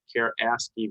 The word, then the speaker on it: ASCII: yes um is i don't know how to pronounce it asc i i value is that a universal code yes yes